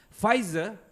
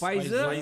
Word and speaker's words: Pfizer: Vaksin Pfizer, it's a silent P kan? Yes. Pfizer and Moderna.